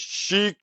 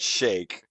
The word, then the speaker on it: Sheik: unless I'm here I've I've been saying it wrong this whole time it's not iron Shake it's iron sheep it is Chic it is not Shake yeah that'd be a